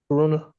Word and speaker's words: Caruana: Torture fees the first assistant public defender on behalf of Miss Caruana.